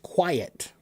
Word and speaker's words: quiet: What is the difference between quit, quite, and quiet? Quit. Quit. Quit. I I I short I quite quite quite I I I I long I quiet quiet. That's a long I and a short e.